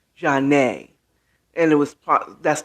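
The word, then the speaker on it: Zhané: more than one called janae spelled z-a-n-e and i think there's a stress over the e jarnay and it was part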